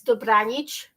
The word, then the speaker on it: Dobranic: And you did pronounce it basically right. It's Dobranic, which you got it right.